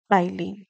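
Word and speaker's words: ptyalin: ठीक है भाई, एमाइलेज टाइलिन, ध्यान रखिएगा, पी यहाँ पर साइलेंट होता है।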